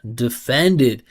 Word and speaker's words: defended: Listen how small with awah D and then e defended.